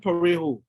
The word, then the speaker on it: Parejo: I said, my name is Parejo. And for those who can't pronounce it, it's Pa as in parboiled rice, Ray as in ray of sunshine, and Ho as in, well, and people began to laugh.